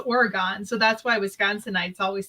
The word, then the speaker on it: Oregon: but there is an oregon wisconsin and it's pronounced oregon so that's why wisconsinites always say the state